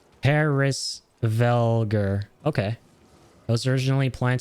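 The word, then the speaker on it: Hræsvelgr: Okay, so it's pronounced Hrisvelgur.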